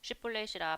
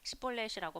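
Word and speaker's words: 쉽볼렛: 하며 그가 아니라 하면 그에게 이르기를 슈볼렛이라 발음하라 해요. 에브라힘 사람이 그렇게 말로 말하지 못하고 시볼렛이라고 바람하면 길라 사람이 곧 그를 잡아서 요단강 나르턱에서 죽였더라.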